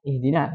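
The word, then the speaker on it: اهدنا: Jadi yang pertama, kesalahan khafi yang pertama di sini dikata ihdina. Kita bahas dulu di ihdina yang harusnya dibaca i. Dia bacanya gimana?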